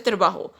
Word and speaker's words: trabajo: Our next word is el señor Paris está contento con su trabajo. Con su trabajo. J is pronounced as hota in Spanish, so this word is pronounced as trabajo, which means job in Spanish.